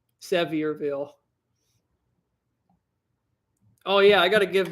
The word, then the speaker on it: Sevierville: the worst one is i always used to call that a sevi or the locals didn't like that one sevierville oh yeah i gotta